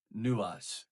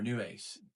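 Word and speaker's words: Νευης: name and in p75 the name is pronounced something like newas or new ace so now you know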